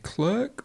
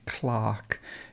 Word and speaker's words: clerk: citizen and clearly clearly this word depends on where you come from so american english might you might say clerk or you might say clark in british english it just depends and you can say both so clerk or clark would be possible this word is the